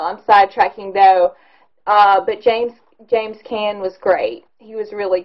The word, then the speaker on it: Caan: Moving on along the list here, James Caan, or Caan, it's spelled C-A-A-N, did a really great job, though.